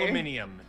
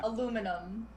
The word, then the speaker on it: aluminium: worry i mean so did it look like aluminium there's just an edited what an added syllable aluminium aluminium yeah aluminum oh okay that one actually has historical context